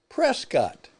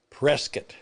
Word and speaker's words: Prescott: rodeo is going in the future here in Prescat, Arizona, USA.